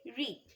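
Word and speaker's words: read: ঠিক সেরকম রিডের past টেন্সও রেড। উচ্চারণ আমাকে রেড করতে হবে, কিন্তু বানান আমার একই থাকবে। নিশা রেড দ্য স্টোরি।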